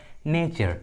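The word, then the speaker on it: nature: च पढ़ते हैं, इसलिए यहाँ पर टी का उच्चारण च हुआ है। मैच्योर and Overture. उसी तरह नेचर, पंक्चर, देखिए दोनों इंग्लिश वर्ड्स में टी के बाद क्या है, यू आर ई।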